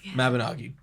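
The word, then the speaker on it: Mabinogi: Mabanagi. Love it dearly. That's how you're supposed to pronounce it.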